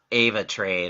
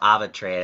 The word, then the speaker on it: AvaTrade: to you today about Ava trade or Abba trade expends how you say it it's a v8 e ra te um Ava trade I'm just gonna use that as my way of saying it Ava trade is basically